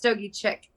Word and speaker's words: Stogiechik: So for me, it's Stogiechik. So normally chick is spelled CHICK. Mm-hmm. I took out the C, so CHIK.